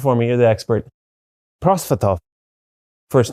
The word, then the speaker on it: Prosvetov: You can pronounce it for me. You're the expert. Prosvetov.